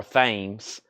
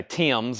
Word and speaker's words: Thames: It looks like Thoms or Thames. I've also heard people say Thames or Times. So I think it's Thames though.